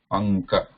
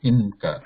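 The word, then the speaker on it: अङ्क: Anka. Like you are saying ink. When we say ink, though we write na there, n there, so we are not pronouncing it as actually inka, right? It becomes inka because the following letter, following consonant falls in this line. It's one of these guttural sounds or throat sounds.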